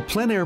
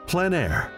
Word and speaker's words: plein air: of outdoor painting, called plein air. The French coined the term, which means open air or outdoors. The French pronounce it plein air. Others say plein air.